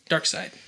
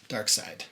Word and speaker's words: Darkseid: who's a servant of darkseid darkseid which is spelled s-e-i-d yeah it's not the dark